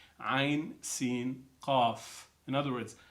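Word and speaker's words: عسق: The letters are connected also, but they're pronounced separately. Ain, Sin, Qaf. In other words, Ha, Mim, Ain, Sin, Qaf.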